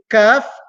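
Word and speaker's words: ق: the third letter is calf calf is pronounced using the back of the trunk cutting the hard palate on top the hard palate on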